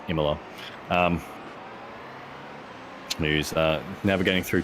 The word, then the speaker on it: Imola: here um at uh Imola IMA sorry I keep pronouncing it wrong it's it's IMA um who's uh navigating